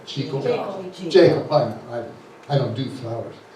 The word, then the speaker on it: Jekyll: But Jekyll writes, they pronounce her name another way. Jekyll.